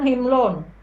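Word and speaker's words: حِمْل: Kalau muatan himlun.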